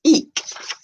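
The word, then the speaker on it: Ik': a minute ago so ich i okay but pronounced eek the magical child let's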